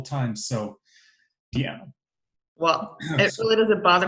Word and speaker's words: Deanna: I will remember, I want to say Deanna, but then I heard Dina once. I'm like, oh, shoot, I was saying it wrong the whole time. So, Deanna.